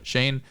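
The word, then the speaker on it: Schoen: in the bill's assistant joe shine after that's how you pronounce shane and brian dabel i've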